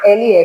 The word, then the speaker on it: Yale: eu sempre esqueço como é que pronuncia isso. O nome da cidade é YALE, como é que fala?